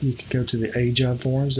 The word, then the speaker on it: AGEOD: And if you want to learn more about it, you can go to the AJOD forums. That's AJOD is spelled AGEOD.